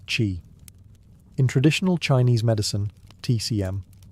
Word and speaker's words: qi: the flow of energy, or qi, pronounced qi.